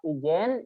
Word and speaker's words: Ijen: Jadi tulisnya Geopark Ijen itu ya, IG-nya ya. Dibacanya Geopark Ijen.